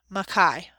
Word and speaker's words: Mackay: He pronounced his name Mackay.